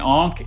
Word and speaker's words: ankh: An ankh is a looped cross that in ancient Egypt was a symbol of life.